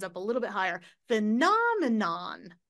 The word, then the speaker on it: phenomenon: four four ends up a little bit higher phenomenon phenomenon phenomenon remember make your pitch go higher phenomen